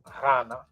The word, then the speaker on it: Ghana: who was known as Ghana. So it's not a G sound either. People in the country called Ghana, they actually can't even pronounce it right, but the GH is a R sound, R.